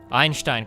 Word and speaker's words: Einstein: Einstein, Kyle. It's how you're supposed to pronounce it.